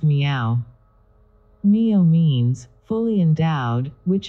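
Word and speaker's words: 妙: 69 384 Mystic principles the character Mio is rendered in Sanskrit by the word sad and in Chinese is pronounced meow Mio means fully endowed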